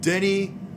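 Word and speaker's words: Denis: Canadian identifying and living Denny Villeneuve okay oh you know how to pronounce it now yes I heard it pronounced and if I'm pronouncing it correctly it's Jenny Villeneuve and I think he's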